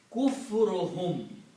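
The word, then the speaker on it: كُفْرُهُمْ: So when you combine these two, mudaf, mudaf ilayh, you don't pronounce one dhamma and becomes kufruhum.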